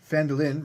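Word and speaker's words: Phandalin: rhymes with Mand or felin rhymes with mandolin that's how I remember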